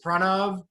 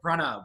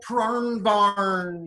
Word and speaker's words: Pranav: names my name is pranav uh let's practice pronouncing my name together pronoun let's say it everybody thank you very